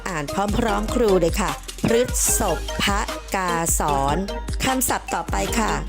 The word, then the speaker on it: พฤษภกาสร: สอน มา ตอบ ท้าย อ่าน ตาม ลักษณะ คำ ประพันธ์ อ่าน ว่า พฤษภ พกาสร ออก เสียง พระ ที่ ตัว พอ สำเภา ด้วย นะ คะ นัก เรียน ป ลอง